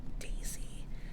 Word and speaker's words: DAZY: Anyway, this is by the brand called Daisy, which is spelled DAZY, and it's like a muted pink color, and it's ribbed, ribbed, ribbed, ribbed.